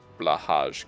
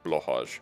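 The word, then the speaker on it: Blåhaj: Can you pronounce blahage correctly? It's like blo, right? That like the A with the thing over is like o, sort of. So it's like blahage, blahage, or something like that.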